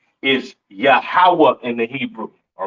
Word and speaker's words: Yahweh: it's not Yahweh right it is pronounced yahawah in the Hebrew all right yahawah in